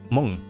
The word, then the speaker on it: Hmong: You pronounced it perfectly the first time. Hmong.